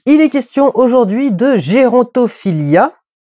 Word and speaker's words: Gerontophilia: est question aujourd'hui de gérontophilia prononcé du coup à l'américaine gontophilia réalisé par Bruce labrousce